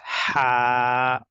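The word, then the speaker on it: ح: And this one is ha. We just did it. This is ha, pronounced from the middle part of throat.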